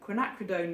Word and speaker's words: quinacridone: of these names do you know how to pronounce I'd love to know but I'm going to say quinacridone magenta you'll be shouting at the film probably